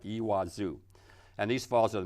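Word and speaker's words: Iguazu: e in the J like a w I guess and you put the accent on the last part ii wazoo and these Falls are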